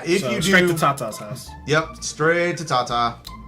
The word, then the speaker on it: Tata: You know that Tata and it's also I think it's pronounced Tata.